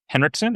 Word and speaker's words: Henrikson: Um, his name is Kevin Henrikson. Am I pronouncing it correct?